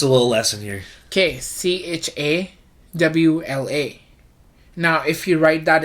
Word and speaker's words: Chawla: But if you convert it to English, the You'd say CHAWLA. Chawla. Yeah, you'll say Chawla. But the W is pronounced as a V. Because the character in Hindi is V.